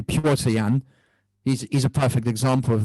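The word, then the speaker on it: Petr Yan: But, yeah, I should say his name correctly, Piotr Yan.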